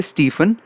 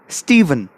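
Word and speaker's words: Stephen: को गलती करते हुए डोंट से स्टीफन हमने करेंगे स्टीवन ऐसे ही नाम अब बोलोगे स्टार्ट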